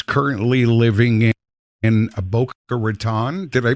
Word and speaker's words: Raton: They get a little insulted when you say Raton. It's kind of funny because I always said Raton myself until I moved to Boca Raton, and I was corrected immediately.